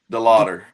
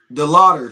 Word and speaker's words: DeLauter: Your um your your rookie How do you pronounce his last name? De- DeLauter. DeLauter.